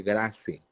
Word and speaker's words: GRACE: Está el otro riesgo, que es la escala de Grace, GRACE, Grace, la escala de Grace, pero se pronuncia Grace, que tiene evaluación de